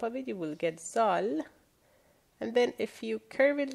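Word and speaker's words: ذال: If you put one dot on top of it, you will get Zal.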